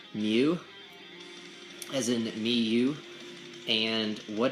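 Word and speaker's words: μ: talk about what this weird symbol is it's pronounced mu as in Miu and what it is called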